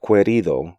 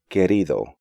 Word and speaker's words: querido: These letter combinations do not constitute diphthongs because U is silent in these sequences. So not quitar, but quitar, not querido, but querido, not seguimos, but seguimos, and not juguete, but juguete.